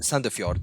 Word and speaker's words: Sandefjord: Is that right pronunciation? Yes. Sandefjord, yeah.